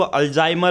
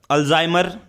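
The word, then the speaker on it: Alzheimer: जिन बच्चों को जिनको अल्जाइमर होता है डिमेंशिया की प्रॉब्लम उनको सबसे ज्यादा हो सकती है alzamay alzmay एक अल्जाइमर यह आपको प्रोनाउंस करना पड़ेगा अल्जाइमर ठीक है अल्जाइमर एक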